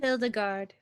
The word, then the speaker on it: Hildegard: Hildegard. Hildegard. It was him. Hildegard. Heidegard. Oh, there's no L. Gald. Hidergald. There's an L at the end.